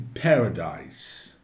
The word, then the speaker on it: paradise: E atenção à pronúncia desse S entre duas vogais em paradise. Paradise. O som é de S mesmo.